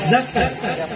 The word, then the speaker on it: ظفر: نہر، کیا مٹر، ظفر، ظفر زید سے ظفر تلفظ صحیح کرو. ظفر، یس.